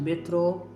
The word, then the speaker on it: metrô: Nós andamos de metrô, nós vamos à cidade, pegamos o metrô, vamos dar uma volta de metrô, ok? Metrô. A sílaba forte com acento, metrô.